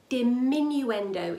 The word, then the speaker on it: diminuendo: our dynamic will be diminuendo is the word oh it's quite long did minuend oh five syllables five sounds let's break it down